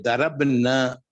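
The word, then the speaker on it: ضربنا: मैंने अरबी का ये लफ्ज उर्दू अंदाज में पढ़ दिया था, इसका अरबी का सही प्रोनाउंसिएशन यही है, दरब ना, दरब ना।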